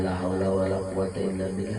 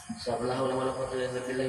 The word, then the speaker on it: la haula wala quwwata illa billah: benar hidup dasar pada hendak membaca itu berarti La haula wala quata billah itu paling 10 menit untuk membacanya cepat jangan la haula wala quwwata illa billah la k itu k la haula wala quwwata